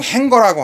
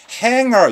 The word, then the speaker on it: hanger: 그런데 발음 조심해야 됩니다. 이거 행거가 아닙니다. 지가 소리가 나질 않아요. 그래서 발음이 어떻게 되느냐면 hanger 이렇게 씁니다. hanger. 행거 아니에요. 그래서 hanger on 이런 거거든요.